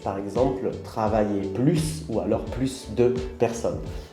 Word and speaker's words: plus: situations avec un objectif avec adverbe on ne prononce pas le s plus grand plus vite avec verbe et avec un nom on prononce le s par exemple travailler plus ou alors plus de